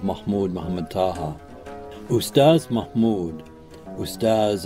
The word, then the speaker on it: Ustaz: Muhammad Taha ustaz Mahmud ustaz and an honorific in the Sudanese Arabic pronunciation of the word for Teacher often visited abah harz